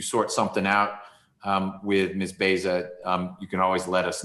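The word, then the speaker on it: Baysah: It's spelled B-A-Y-S-A-H. I think it's pronounced Beza, or Beja.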